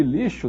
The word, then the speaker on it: lixo: se escreve com x o som do X de lixo é som de quê som de ch não o x de lixo tem som de X mesmo afinal das contas o